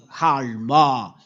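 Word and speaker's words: עלמה: Halma. This is the way to pronounce halma.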